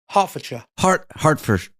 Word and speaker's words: Hertfordshire: Heart as in your body. Ford as in the motor car. Shire as in where the gremlins live. Yeah, but you don't pronounce the T when you say heart. You're like hard. I did. Hertfordshire. Hertfordshire. You don't like aspirate it like heart.